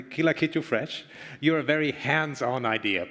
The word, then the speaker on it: Kila Kitu Fresh: And in this respect, I mean, Kila Kitu Fresh, do I pronounce it correctly? Kila Kitu Fresh. You're a very hands-on idea. Please tell me about it. Yeah, Kila Kitu Fresh. You pronounce it very well.